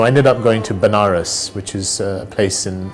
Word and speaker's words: Banaras: ended up going to banaras which is a place in in india sometimes pronounced as vanaras which is a place